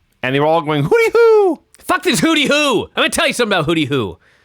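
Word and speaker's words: Hoody Hoo: Now, I was unaware of this, but hooty is spelled with a D. Okay. So it's not hoot, like an owl. It's hood. Like a hoodie. Like in the hood. Uh-huh. Hooty-hoo. Okay. But they pronounce it hooty-hoo.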